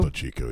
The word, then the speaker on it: Topo Chico: Topo Chico, yeah.